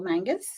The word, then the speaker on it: Mangus: um I do have a special guest Mangus I'm hoping I'm pronouncing that right you did it perfect thank